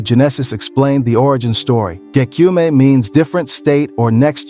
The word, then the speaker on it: Gekyume: She said, "I know it's kind of hard to say, Gekyume. If I hear people like DQ mean or gay, then I'm like, no, it's Gekyume." The correct pronunciation is Gekyume, by the way, in case you were wondering.